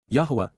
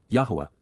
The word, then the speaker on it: Yahowah: Yahwa Yahwa the proper pronunciation of the name of Eloha God as directed in his Torah teaching regarding his high existence and our shalom restoration.